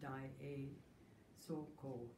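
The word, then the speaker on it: Daie Sōkō: I'm probably murdering the Chinese pronunciation, but his name, same characters of his name are pronounced Dai A Soko in Japanese.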